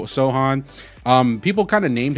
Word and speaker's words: Sochan: is Jeremy Jeremy Sohan it's spelled like sochan but I've been learning it's so Sohan um people kind of